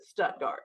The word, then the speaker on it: Stuttgart: Stuttgart Arkansas but being as we are we pronounce it Stuttgart so um I have two collecting interests myself